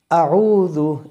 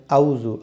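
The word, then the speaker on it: أعوذ: আউজু আউজু এর এই যে আউজু একটা শব্দ। এই আউজু অনেকে বলেন আউজু। আউজু আউজু বললে কিন্তু হবে না। এখানে একটু চেষ্টা করেন। আউজু প্রথম শব্দটা হামজা। খুব শক্তভাবে বলতে হয়।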